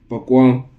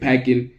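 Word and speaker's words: Paquin: It's like spelled Paqin. So I don't really know. I once watched a video. They said that you're supposed to pronounce it Pakwang. The the way I read it, it feels like packing.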